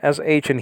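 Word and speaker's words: שִׁין: w but it's an sh in hebrew it's a sheen or shin i pronounce it either way excuse me guy and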